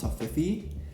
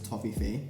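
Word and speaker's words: Toffifee: or the united states i thought it was pronounced to fifi but it's actually toffee face or fey means fairy and i've been pronouncing it wrong all this time but i now learned this toffee fee if you're familiar with this chocolate it's kind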